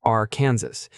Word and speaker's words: Arkansas: However, because French functions strangely, the terminals remains unvoiced, similar to how one omits the S's sound when saying Paris.